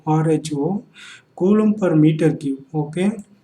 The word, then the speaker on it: rho: Okay, volume charge density, this is pronounced as rho, rho, coulomb per meter cube.